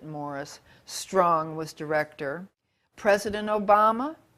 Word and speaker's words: Maurice: of which UN agenda Maurice he pronounces it Morris Strong was director President